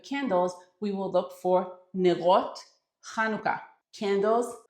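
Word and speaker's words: נרות חנוכה: And hanukkah candle is kanuka as we pronounce it. So when we go to the store and we are looking for hanukkah candles, we will look for nerot kanuka candles.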